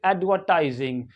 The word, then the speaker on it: advertising: देंगे American English में बस इतना ही सा फर्क है कि ये जो आर है आर इस आर को क्या करेंगे प्रोनाउंस करेंगे एडवर्टाइज एडवरटाइजिंग क्या पढ़ एडवरटाइजिंग और ब्रिटिश इंग्लिश में